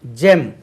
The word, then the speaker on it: gem: அடுத்தது GEM, ஜெம். பாருங்க, GEM, ஜெம், ரத்தினம். இதை நம்மளுக்கு புது வேர்டு தெரியலன்னா கெம் கூட சொல்லிடுவோம் தெரியாமல். ஜி வந்து சில இடங்களில் ஜா என்று உச்சரிக்குது, சில இடங்களில் கா என்று உச்சரிக்கிறது.